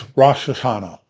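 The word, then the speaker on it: ראש השנה: for beginning Shana it's Rashana and that's how you pronounce it in Hebrew so here we see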